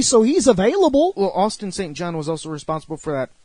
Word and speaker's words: St. John: It's not Johnson. It's Austin St. John.